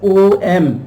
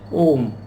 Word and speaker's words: Om: Now A, U, the sound of U, and M, Now in Sanskrit, the sounds A and U combined, they make the sound O.